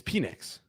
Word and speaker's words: Penix: do you say let's let's do uh it's penix Michael penix Jr how how many oh there's